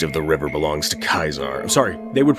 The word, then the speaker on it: Caesar: here everything east of the river belongs to kaiser sorry they would pronounce it caesar um it's legion territory everything west of that